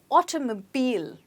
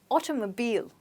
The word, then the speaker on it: automobile: as you can see the last sound in this word is a bit stretched and you must get that as well so it's automobile try it again automobile okay the automobile industry